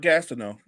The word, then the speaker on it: Gastineau: butcher it, so I'm not gonna try to pronounce it. I got you, partner. It's Mark Gastineau.